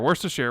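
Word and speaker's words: Worcestershire: how do you say it wor a share worst a share worst a share worst a share worst a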